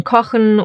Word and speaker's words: Kochen: When these two are combined together, they will always make the sound Ha, even in the middle of the word. For example in Kochen, or Sprechen.